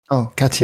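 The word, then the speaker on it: Katyń: Yeah, I think he did a film quite recently called Katin or Katin. I don't know how to pronounce it. Katin. Yes, the second one is correct.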